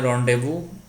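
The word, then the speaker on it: rendezvous: number देते फलो ड है द करेक्ट कौन स्पेलिंग सही है तो य रोंव इसको बोलते हैं रंड देवू जब कहीं पर किसी से निश्चित समय पर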